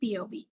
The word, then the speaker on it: Piyovi: Meet POV. Spelled a bit uniquely but pronounced just like P O V.